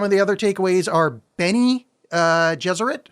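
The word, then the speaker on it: Bene Gesserit: the other takeaways are Benny uh jeser like Benny and the Jets jzer and I think the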